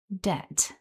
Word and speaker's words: debt: back together, we have debt. Repeat after me. Debt. And hopefully you noticed that we don't pronounce the letter B in this word. It is a silent letter in debt.